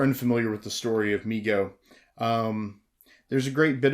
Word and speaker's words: Mego: response to overwhelming demand migo pronounced migo corp was started by his father david abrams in 1954 and named by his younger brother howard who would say me go to howard later became